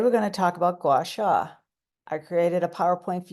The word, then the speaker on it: Gua Sha: It's pronounced Gua Sha.